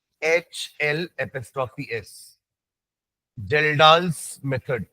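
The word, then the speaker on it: Kjeldahl: के ज डी ए एच एल एस्ट्री एस जल डालस मेथड के साइलेंट है बाकी jail dals astro jail dals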